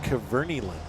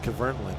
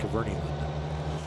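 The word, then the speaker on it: Kverneland: a Nutshell video, and they said that it's pronounced Cavernyland. I've always said Cavernland, but it's actually Cavernyland.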